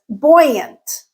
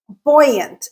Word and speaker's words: buoyant: The second word that is derived from buoy is buoyant. Buoyant. Again, we are incorporating the British pronunciation boy in this word as well.